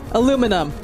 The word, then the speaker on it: aluminum: aluminium come on guys pronounce it the American way aluminum aluminum pronounced tin foil